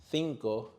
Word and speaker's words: cinco: Cinco. Cerveza. In most of Spain, many speakers pronounce C and Z with a sound similar to the TH.